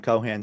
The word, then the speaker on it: Cohan: I mean, my most of my social media is pretty much just my name, Cohan. C O H an spelled like it sounds is how I like to say.